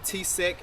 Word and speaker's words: TCEK: I've heard people pronounce it a few different ways, but I'm going to pronounce it T-seek, and I think that's how it's properly pronounced.